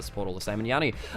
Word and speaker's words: Yanni: Yanni, It's Yanni. Yanni, okay, I'll get... So, I'm not even pronouncing it right.